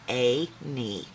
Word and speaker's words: Annie: Everyone called her Annie, pronounced A-nie.